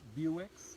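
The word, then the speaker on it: Bewick's: I just heard a Buicks Wren spelled Buicks pronounced Buicks like the old bar favorite birds in the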